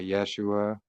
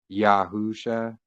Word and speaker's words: Yahusha: with you know Yeshua it's not Yeshua it's actually yahusha because you know Yeshua